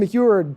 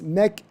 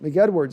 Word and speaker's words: McEdward: Jason McEward, my last name is German. It's McEdward. Sorry, like McDonald's. McEdward.